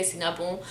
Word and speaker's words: Cinnabon: also opening with me so cinnabon we don't say soon about at least i do and a lot of other lebanese people do we say sinapu unless you're also not